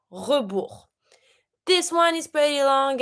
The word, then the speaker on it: rebours: À rebours, you need to write everything down, le compte à rebours, and of course, as usual, you don't pronounce the S. Le compte à rebours, the countdown.